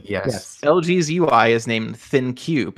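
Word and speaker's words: ThinQ: LG's UI is named thin cube it's spelled like think with a Q oh that's a clever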